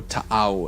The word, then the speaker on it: Tau: yep and we have the tau Empire or tau as they should be pronounced who are basically mecca's in space yeah